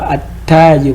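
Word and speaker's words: التاجر: At-tajir. Vous voyez at-tajir. Ici on n'a pas on voit maintenant, on voit le lam mais on ne le prononce pas.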